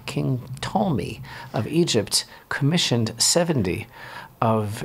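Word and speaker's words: Ptolemy: wherein king told me that's a silent P king tall me of Egypt commissioned 70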